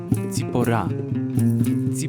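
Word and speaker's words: צִפּוֹרָה: imieniem biblijnym jest sephora żona mojżesza po hebrajsku wymawia się ją z pora pora dla chętnych żeby idealnie wymówić to imię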